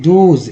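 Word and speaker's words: those: Next देखिए ये रहा हमारा, और वे सब को बोलते हैं दूज। यहाँ एस का उच्चारण जो है ज के रूप में होता है, तो आप समझिए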